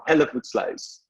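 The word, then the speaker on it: Hellevoetsluis: the town i grew up in is called hella food slice i'm not going to attempt that but it's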